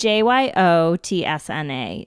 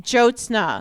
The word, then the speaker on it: Jyotsna: So my mom's name is Jyotsna Raj, which is Jyotsna is a tricky name, but it's... Can you spell it? Jyotsna. It's pretty phonetic, honestly. Jyotsna.